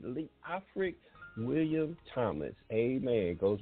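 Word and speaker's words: Leofric: spell it for you l e o f r i c lee afric william thomas amen goes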